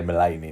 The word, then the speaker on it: Mullaney: I can't pronounce everything, but I know how to say Mullaney now.